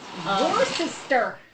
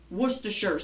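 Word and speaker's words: Worcestershire: how you pronounce it worister it's pronounced wora remember you do not pronounce you do not pronounce the rs it's wa it's Worershure sauce.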